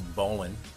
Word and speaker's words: bowline: want to sound salty pronounces bowline like Jeremy Lin instead of bowline then all the sailors